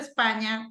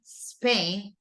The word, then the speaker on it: Spain: Go in English right not span Spain not Brazil but Brazil